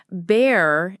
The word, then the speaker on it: bear: And for pronunciation, bear is B E A R pronounced like the animal.